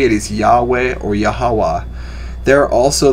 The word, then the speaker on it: Yahweh: adonai which means the lord so yhwh is pronounced as yahweh or yahawah yhvh is pronounced as jehovah or jehovah depending